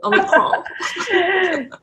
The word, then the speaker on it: Omicron: Itu bukan, bacanya bukan Prancis gitu ya, Bu? Omicron.